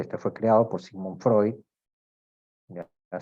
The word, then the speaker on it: Freud: fue creado por Simón Freud ya se pronuncia Freud no Freud muchas veces escucho a los alumnos decir Freud es Freud y aquí pues nos habla